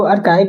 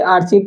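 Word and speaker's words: archive: ठीक, जो आर्काइव जो स्पेलिंग है, ठीक, उसे लोग सबसे पहले आर्चीव पढ़ते हैं, अचीव पढ़ते हैं।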